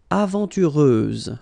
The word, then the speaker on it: aventureuse: Aventureuse, final S, not pronounced.